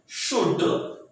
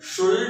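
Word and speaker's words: should: थोड़ी गड़बड़ी इनके प्रोनाउंसिएशन में होती है, वुड, शुड और कुड में, इसमें एल साइलेंट है, तो वुल्ड, शुल्ड और कुल्ड नहीं करेंगे, that is वुड, शुड एंड कुड।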